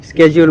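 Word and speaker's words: schedule: Plus হইতেছে গতকালকেরটা শিডিউল করে রাখছি, শিডিউল। আর যদি শুদ্ধ উচ্চারণ হয় তাহলে স্কেজিউল মনে হয়।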